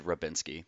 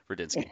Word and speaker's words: Radinsky: God damn, I said Rabinski. The people were probably like, you said his fucking name wrong. Radinsky.